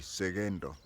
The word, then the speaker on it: Sekento: 2 in standard form the name is written with a k but it is pronounced as though it has a g segendo I have later come